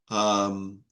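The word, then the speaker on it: πνεῦμα: Pneuma. It's pronounced with a kind of U.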